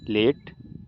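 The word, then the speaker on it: late: एल ए टी ई लेट बी ए एस E base D ए टी ई डेट यहां पर ई जो है silent है और ए को हम ए से पढ़ते हैं अगर एक कंसोनेंट के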